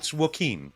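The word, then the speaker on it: Joaquin: Phoenix all the time it's not wacking it's it's Wen it's Wen w my my image my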